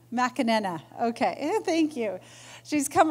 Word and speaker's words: McAnena: Well, so here we are with our Working with Governing Bodies of Sport panel, and I'm excited to introduce Fiona McAnena from, no, I didn't say it right.